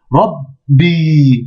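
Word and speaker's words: ربّي: Mais il y a une shedda. Donc on va dire rabbi, rabbi. D'accord? Rabbi. Voilà. Donc comment dire, on double la consonne.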